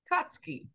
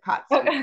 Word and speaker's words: Katzke: How do you say your last name? Katzke. Katzke, Katzke. So think of C-O-T-S-K-I, and then it's easy to say it, Katzke.